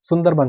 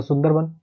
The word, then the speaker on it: सुंदरबन: सुंदरबन है ये, पर वहाँ पे मैंने आपको बोला है प्रोनाउंसिएशन थोड़ा अलग रहता है, तो वन बोला जाता है उसको, जैसे रविंद्रनाथ को रविंद्रनाथ कहा जाता है, तो सुंदरबन कहा जाता है।